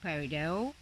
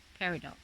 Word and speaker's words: peridot: like to pronounce it's peridot without the t you can also pronounce it with a t peridot and this native sport